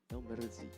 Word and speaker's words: El Merzi: El Merzi. Yeah, El Merzi. El Merzi. Yeah, I think we got to roll our tongue a little bit.